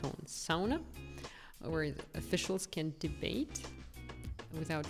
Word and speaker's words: sauna: That's Finnish word if you pronounce it in the Finnish style, sauna, not sauna like in English.